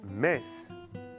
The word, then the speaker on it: mince: Les adjectifs mince, jeune, moche ont un E qui ne se prononce pas.